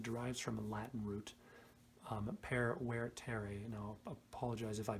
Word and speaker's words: vertere: I know that V's are pronounced as W's. I don't know if the stress was right on that.